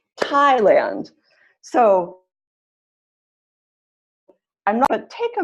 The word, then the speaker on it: Thailand: second syllable Thailand so where's the stress for that second word Thailand Thailand first excellent work yes great work everyone answer is first syllable Thailand so I'm gonna take